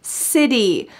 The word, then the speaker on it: city: and welcoming city city also this word has a t change to a d city i've always wanted to